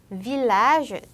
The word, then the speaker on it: village: village, tranquille, mille. 이때에는 영어의 L과 유사한 발음으로 됩니다. 이으가 아니라.